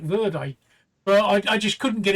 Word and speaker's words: verde: I kept pronouncing green verd, which is how the French pronounce it, where it's not. The Spanish actually pronounce it verde.